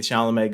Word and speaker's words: Chalamet: it cut to a really close-up of Timothy Chalamet going, but, like, no sound was coming out of his hands.